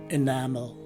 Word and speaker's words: enamel: Looking at its phonetic spelling, you will see that the stress is in the second syllable, and that the first letter E takes a common letter I sound. The letter A is a common sounding A, and lastly, the second letter E is a swas sounding E. So the right way to say this word is enamel.